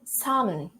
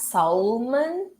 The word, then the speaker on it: salmon: to this one, because when you say ALM, again, you want to pronounce it as oh, om, salmon, but it's actually salmon, salmon, salmon. It's not salmon, all right? You don't have this L right here.